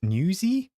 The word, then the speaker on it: Newsies: It's pronounced newsy? Oh, because news.